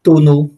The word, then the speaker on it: Tonneau: Y nos acompaña el doctor Tonu. Así disculpa si se pronuncia de esa manera, es la primera vez que lo digo. Está, Es uno, tono.